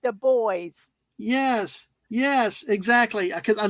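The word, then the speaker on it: Dubois: we said, how do you say this? They go, it's the boys.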